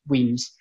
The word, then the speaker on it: Wemyss: so simply saying is Weems means malts it's pronounced Weems it's not called Rimes is it's not called